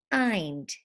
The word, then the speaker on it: find: a closed syllable exception we don't say end we say find IND find I'd IND